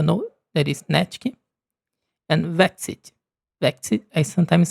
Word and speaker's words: Vexite: So, I will say sorry if I say the name wrong and then when you hear the pronunciation, please remember that is Natkyn and Vexite.